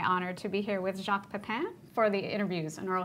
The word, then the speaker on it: Jacques Pepin: Well, I am Jacques Pepin, and well, it goes from Jacques Pepin to Jacques Pepino, depending with Pronunciation.